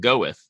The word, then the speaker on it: Gawith: with GA WI th looks like gay with but it's you pronounce it go with correct so it actually